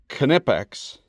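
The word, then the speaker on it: Knipex: And those dirty German tutonic keep telling me to pronounce it proper. Kipex.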